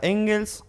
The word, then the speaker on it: Engel: evitar cómo se pronuncia engels engels está bien en chile s y es en gel pero puedes decir también bien como suena excelente bueno